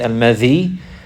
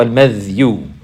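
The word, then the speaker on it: المذي: The other one is al-madhi, and you can say it al-madhi with bikasr al-dhal, al-madhi or al-madhyu. Al-madhyu, and it's pronounced both ways, and it comes both ways in some of the texts, in different wordings.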